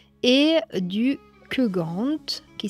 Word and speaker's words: Keugant: GW E N W E D et du Kugant qui s'écrit K E U G A N T c'est les trois mondes, c'est une division.